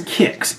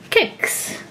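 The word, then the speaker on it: Kicks: Kix. Which is spelled K-I-C-K-S, not K-I-X, like the cereal.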